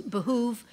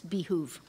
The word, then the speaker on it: behoove: The main one is behoove, and the second one is behoove.